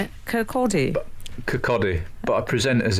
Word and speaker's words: Kirkcaldy: He's a Scotsman, but I'm pretty confident it's Kirkcaldy. Al, how do you say it? Kirkcaldy.